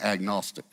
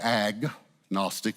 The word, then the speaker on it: agnostic: now um we say AG Gnostic is the way we divide the word but the G actually goes with Gnostic it comes from a Greek word the g is silent it's gnosticism it means